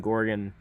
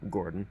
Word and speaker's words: Gordon: the starting net Was Keegan Goron or sorry Keegan Gordon as I should say I don't why